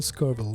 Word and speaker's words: Scurville: Michelle Scurville, right? Am I pronouncing your last name right?